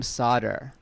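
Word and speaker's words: Sadr: very creative instead they made my middle name sodder it's spelt s-a-d-r it's after the first president of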